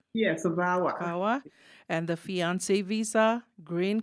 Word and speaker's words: VAWA: Daka travel documents vawa is that how it's pronounced yes aawa vawa and the fiance visa Green Card change of